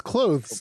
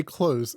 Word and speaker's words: clothes: the th i'm like no it's clothes it's easy like cloth cloth is not a hardware to say like okay so is it not cloth is like is that what it is all right um oh yeah so people say yeah don't say close you know what i'm